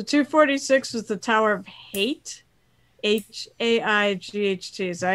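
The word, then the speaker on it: Haight: So 246 was the Tower of Hate. H-A-I-G-H-T. Is that how you pronounce it?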